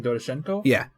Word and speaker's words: Doroshenko: Yeah, I'm guessing Doroshenko. Yeah, that's how you pronounce it. Yeah, so a 21... Pretend you have a Russian accent, then try to pronounce it. That's kind of how it works. So Doroshenko?